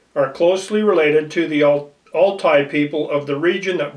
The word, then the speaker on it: Altai: Inca, and Iroquois are closely related to the Altai people of the region that borders China and Mongolia. So the Aztec, the Inca, the Iroquois are closely related to the people in northern China and Mongolia. The Altai people, it's spelled A-L-T-A-I.